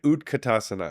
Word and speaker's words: utkatasana: let's do that did I say it right utkatasana yes is chair pose it's actually Fierce pose